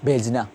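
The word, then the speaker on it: بھیجنا: কিন্তু আমরা এটা যদি ইয়া ফেসানো, আমরা এটা কি করবো, আমরা আলাদা করে বে হে বলবো না, আমরা বলবো বে ইয়ে জিম নুন আলিফ, ভেজনা।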